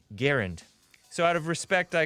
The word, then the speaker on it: Garand: But I learned that it's pronounced the M1 Garand because it was made by a guy named John C. Garand.